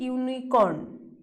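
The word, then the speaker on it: unicorn: कैसे हो रहा है पहले हम लोग कैसे प्रोनाउंस कर रहे हैं यू यूनिकॉर्न मतलब वाई य यू यू पहले साउंड हो रहा है मतलब कंसोनेंट साउंड आ रहा है लद इट इज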